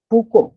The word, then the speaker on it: Foucault: जैसे बात अगर करते हैं हम, एक जो है प्रसिद्ध साहित्यकार है फूको, हिंदी में आप लिख रहे हो फूको, लेकिन उनके अगर अंग्रेजी के स्पेलिंग आप देखो तो FOUCAULT ये आपको मिलेंगे।